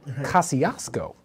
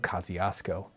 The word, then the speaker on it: Kosciusko: And it is pronounced here in this location, Kosciusko. This is Kosciusko. I am sorry for anyone of Polish descent. I apologize now for the entire county of Kosciusko.